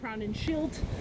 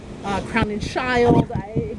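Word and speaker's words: Crowninshield: I would hear it pronounced Crown and Shield, Crown and Shield, Crown and Shield, Crown and Child.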